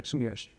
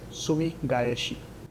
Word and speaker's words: Sumi Gaeshi: He is going to show us uh sumigi today. Sumishi. If you're from Japan, how do you say it? Sumi gayhi.